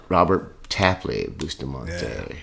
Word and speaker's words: Robert Tapley Bustamante: Robert Tapley Bustamante.